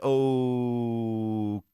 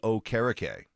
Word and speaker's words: Okereke: Denzel Perryman, Bobby Wagner, Wags, Shaq Thompson, Eric Wilson from the Vikings, Bobby O'Kerkery, Okereke. Bobby Okereke. Yeah. Bit humbling whenever Stinks correcting you with the pronunciation.